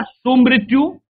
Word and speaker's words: सुमृत्यु: सुमृत्यु, सुमृत्यु, मृत्यु नहीं होगा। बच्चे देखिए, ये उच्चारण में थोड़ा गलत हो रहा है, तो ऐसा गलतियां हमें नहीं करना चाहिए। मृत्यु, बिल्कुल ये उच्चारण शुद्ध रूप से करना चाहिए, सुमृत्यु।